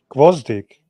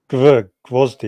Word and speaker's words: Gvozdyk: Gawastik. Is that how you pronounce his surname? How do you pronounce his surname, Mirage? Gvozdik. Gawastik. Gvozdik.